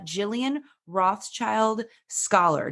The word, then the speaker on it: Jillian Rothschild-Scholar: Quimby I'm your host and today we have Jillian Rothschild scholar did I pronounce it correctly you got it right you